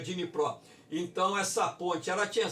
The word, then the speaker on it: Dnipro: Aqui está Dnieper, mas o ucraniano ele pronuncia Dnipro.